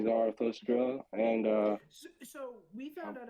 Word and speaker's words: Zarathustra: supposed to be like Zarathustra, but I've always said Zarathustra.